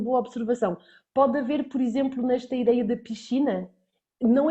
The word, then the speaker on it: exemplo: Então este EX do início vai praticamente desaparecer, mas eu vou, por exemplo, dizer táxi com que, ok? E eu vou dizer também exemplo com z.